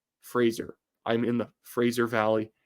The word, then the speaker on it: Fraser: So it's Fraser. Fraser.